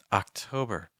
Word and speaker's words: October: like September September October October for this one it can be helpful to just do the vowels it's like ah o ER notice the first little